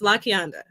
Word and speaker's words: Lakianda: You know, people like to people mispronounce my name every day. It's Lakianda. They call me whatever they want.